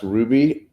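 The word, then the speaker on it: RWBY: world then sounds like German Japanese British it's pronounced Ruby rwb why do you Ruby Chris Barrett knew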